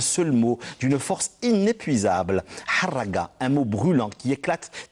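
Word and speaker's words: harraga: Il faut le prononcer en arabe avec la griffe de son H qui racle la poitrine, de son caverneux, de ses A qui ouvre la bouche en porte-voix pour un vacarme assourdissant. Le râle du R qui essouffle les poumons desséchés.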